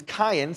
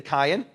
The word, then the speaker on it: Kayin: Their son, Cain, in Hebrew is Cain. Say Cain.